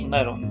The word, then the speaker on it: Neron: Therefore, I will refer not to Tiberius Claudius Nero, but rather to Tiberius Claudius Neron. This is the way it is traditionally pronounced in Polish.